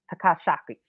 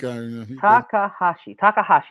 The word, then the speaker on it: Takahashi: and he was facing Hiromu Takashi. Takashaki. Man, my pronunciation is That's terrible. okay, man. I couldn't even think. Takahashi is his name.